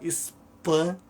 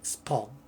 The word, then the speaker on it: Spawn: Tem gente que falava Spam ou Spalm. A pronúncia é Spawn.